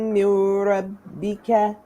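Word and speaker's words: مِن رَبِّكَ: Jaza'am mirabbika. Mirabbika. Jaza'a mirabbika Amir. Mirabbika. Make sure we pronounce this meme here. Jaza'am mir.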